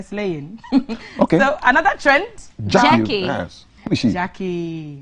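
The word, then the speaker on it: Gyakie: So her Jackie is spelled like tree. I'm really surprised. Jackie. G-Y-A-K-I-E.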